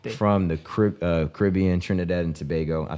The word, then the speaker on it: Tobago: shout out Dante from the Caribbean Trinidad and Tobago I said it right just for the Pod